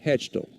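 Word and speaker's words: Hachtel: hitter Maddox hatch hatch hatcho hatcho leading off it's spelled h a c h t l Maddox hatchel count now as one and one had some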